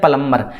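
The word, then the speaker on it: plumber: उसको हम कहते हैं प्लम्बर, क्या कहते हैं, प्लम्बर। Option नंबर B should be right answer, ठीक है। तो यहाँ पे प्लम्बर में बी जो साइलेंट है, ठीक है, तो ऑप्शन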